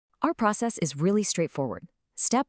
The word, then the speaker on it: 爱: Our very first character is this one. It's pronounced I. See that little mark above the A? That's called the falling tone. It's a sharp downward sound.